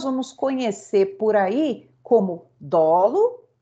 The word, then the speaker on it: dolo: o dolo ea culpa dolo se fala assim para gente dólar eu vejo algumas pessoas com uma dor não tem que inventar dólar foi um põe a sílaba tônica no o dolo o que que